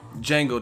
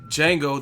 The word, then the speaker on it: Django: inside of a slave Django the D is silent I mean your bit